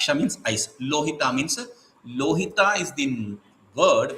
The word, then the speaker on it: lohita: but there is a there is a usage of replacing la with so rohit a also is a possibility rohit means red lohit means red rohit is replacing with okay so lohit a means one who is